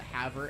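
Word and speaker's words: Havre: Montana out of the Haver area Haver Montana h-a-b-r-e because it's spelled weird anyway um so they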